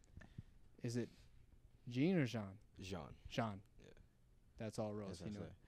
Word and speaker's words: Jean: Jean.